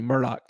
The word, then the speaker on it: Murdaugh: I see a lot going on for Ellen's not on now, so I'll pronounce it correctly, Murdaugh.